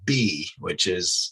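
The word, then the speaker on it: bi: And in ancient China, long after these things existed and they still created them, somebody finally named them a bee, it's pronounced B, but it's spelled B-I.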